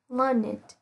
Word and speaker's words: learned: Lưu ý nhé, sẽ có một vài trường hợp là tính từ đặc biệt sẽ được phát âm là ed.